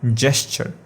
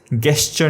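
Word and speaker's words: gesture: ये जो last word है इसका प्रोनाउंसिएशन है जेस्चर, गेस्चर नहीं, जेस्चर है इसका प्रोनाउंसिएशन।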